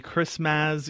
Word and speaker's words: Christmazz: I mean, you just put out the Christmazz EP. I hope that's how you pronounce it?